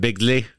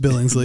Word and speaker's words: Billingsley: Ralphie that Peter Billingsley Billingsley is how you say it bigsley no it's just Billingsley Billingsley didn't have a